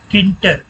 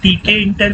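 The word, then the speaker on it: Tkinter: तो ये एक लाइब्रेरी होती है पाइथन में, किंटर, ठीक है, TKINT यार, जिसे बहुत से लोग TK इंटर भी बोलते हैं, बहुत से लोग किंटर बोलते हैं, मतलब टी को साइलेंट रखते हैं।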